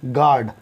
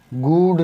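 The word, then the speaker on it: guard: जैसे जी यू ए आर डी, गार्ड, गूड नहीं पढ़ेंगे, ना ही गूस्ट पढ़ेंगे, ना ही गूस पढ़ेंगे, क्योंकि यू की आवाज़ जी के साथ नहीं निकलती।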